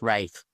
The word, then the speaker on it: Ralph: background to him and I think that's why it's it's pronounce wraith well you know I'm gonna call him Ralph he can tell me